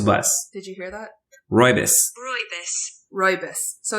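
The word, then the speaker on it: rooibos: i see how do you say it right roybal i don't know i just guessed i think according oh of course it's it's uh pronounced roibus like roy's the bus did you hear that ribose ribose so it's pronounced ribose but i've seen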